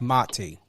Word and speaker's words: Mati: It's very important to know how to pronunciate. And I get it. You know, sometimes you don't correct, but it's Mati.